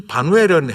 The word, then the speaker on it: 바누엘: 이 바누엘은 헬라식으로 발음한 것이고 이걸 히브리식으로 발음하면 브니엘, 조금 더 원어에 가깝게 하면 푸니엘입니다.